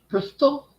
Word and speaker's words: Bristol: thought Brizzle people, was in South America. if you're from that part of the country, it's pronounced Brizzle. There's a T though.